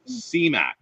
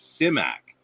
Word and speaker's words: Simak: it's so many times you get cmac or cymac it's simak you know and that's how he pronounced that was his name